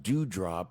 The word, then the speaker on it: Doudrop: I believe it's going to be pronounced Dewdrop, but it's Doudrop. Mm-hmm. Yeah, okay, yeah, it is going to be Dewdrop.